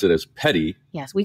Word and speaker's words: petit: uh some french so it would be a petite waiver but that's not how we pronounce it in the south i know we pronounce it as petty yes we call it